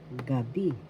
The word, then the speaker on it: gabi: Magandang gabi. First syllable ga, second syllable bi. The accent is in the second syllable, gabi, night.